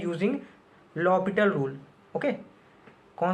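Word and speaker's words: L'Hôpital: हुआ मिल सकता है, कुछ लोग इसे हॉस्पिटल रूल पढ़ते हैं, एल हॉस्पिटल रूल, लेकिन ऐसा नहीं है। इसका प्रोनाउंसिएशन क्या है? लॉपिटल rule. ओके, एच यहाँ पे साइलेंट है। ओके, और एस नहीं है, ओ के ऊपर 2 बिंदी होती है। ओके, बुक्स में लिखा होता है हॉस्पिटल, लेकिन उसको हॉस्पिटल प्रोनाउंस नहीं करते हैं।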